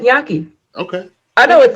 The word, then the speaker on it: gnocchi: I looked it up and it said gnocchi.